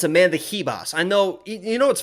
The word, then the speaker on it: Amanda Ribas: know what's funny is it's supposed to i know that's like the portuguese way to pronounce it as amanda hibas but she said in a video one time hi amanda ribas actually in this video